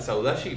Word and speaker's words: saudade: entender lo que es la saudachi para mí se escribe saudade si no me equivoco